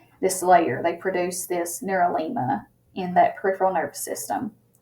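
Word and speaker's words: neurilemma: coverings is what is called the neurolingua that is spelled n-e-u-r-i-l-e-m-m-a the neuro-lima and basically the neurolemma is a covering that occurs only in the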